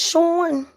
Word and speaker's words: Sean: It's Sean.